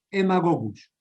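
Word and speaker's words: Haemagogus: mosquito del género hemago se escribe con h y aema gogus se escribe pero se pronuncia emagogus este también el más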